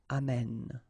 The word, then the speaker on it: amène: And then it will change, of course, the pronunciation, because you will have this sound open, amène, okay? Amène, tu amènes, il amène.